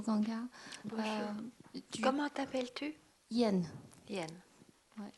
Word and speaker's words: Yen: Yen. Ouais, ça se prononce comme la monnaie japonaise.